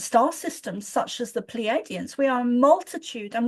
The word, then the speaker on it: Pleiadians: the, forgive me if I say it wrong, Pleiadians? Is that what the word is? Right. Did I say it right? Yeah, Pleiadians.